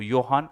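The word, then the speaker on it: Johan: जे को जोहान मत बोलो, योहान अगस्ट ने इसको, योहान अगस्ट एंड ऑर्फ वेडसन, योहान अगस्त।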